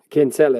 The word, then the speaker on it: Kinsella: How do you say it? Kinsella? Yeah, Kinsella is what you'd say, yeah.